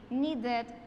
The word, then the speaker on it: needed: Ahora need and visit ya terminan en da y ya terminan en ta, el sonido de la ed como tal va a ser ed, needed, visited.